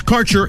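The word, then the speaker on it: Kaercher: cannabis Insurance Services is spelled k a e r c h e r that's carer insurance we have worked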